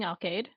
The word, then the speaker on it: Alcade: I'll be saying Alcade. Like arcade, Alcade?